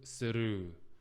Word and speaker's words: スルー: Kidoku suru. Yeah. Suru is the Japanese pronunciation for through.